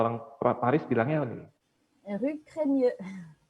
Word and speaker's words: Rue Crémieux: Ini bacanya apa nih, Cak? Biasanya kalau orang Paris bilangnya apa nih? Rue Cremieux. Rue Cremieux.